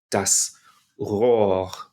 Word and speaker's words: Rohr: And the second one, because it comes after a vowel, is going to get a little bit enveloped into the vowel and not fully pronounced.